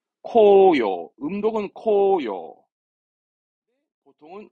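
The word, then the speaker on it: 紅葉: 발음은 코요. 음독은 코요. 보통은 모미지로 특별음으로 가죠.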